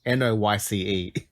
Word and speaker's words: Noyce: Well, he's an Australian, so that's why I say it like that, because it's Noyce.